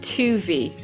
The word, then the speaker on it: Toovey: It's Toovey, so a bit like groovy, but with a T.